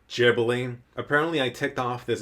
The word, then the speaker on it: Ghibli: And then really quickly on the whole Ghibli pronunciation, it's Ghibli.